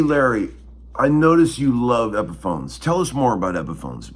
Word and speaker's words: Epiphone: He calls them Epiphones. He always pronounces the Epi, because that was the guy's name.